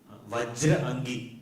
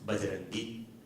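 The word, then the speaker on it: बजरंगी: Vajra angi but it is a little difficult to pronounce. So in the local dialect it becomes bajarangi.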